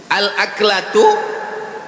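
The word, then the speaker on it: الأكلة: Al-aklatu bifathil hamzah, cara membacanya hamzahnya baris atas, a.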